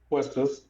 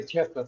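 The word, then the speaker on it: Quistis: How the heck do you pronounce her name? Quistus. I've never heard anybody say Kistus.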